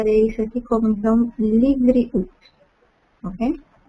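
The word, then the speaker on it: לבריאות: Labriut. Uhum. Todo mundo fala labriut. Labriut. Mas o correto, o jeito certo de falar a palavra é livriut.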